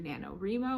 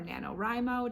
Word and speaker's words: NaNoWriMo: of videos about what it's like to do nanowrimo or nanowrimo depending on how you pronounce it if you're not familiar it's the